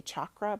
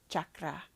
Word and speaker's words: chakra: different Chaz Shaz Shakra I used to say chakra but it's actually chakra chakra and I'm saying it correctly now so I love you my